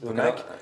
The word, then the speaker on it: eMac: iMac, si on prononce à l'anglaise. Mais le Mac. Les Français, ils disent, on a tous dit eMac.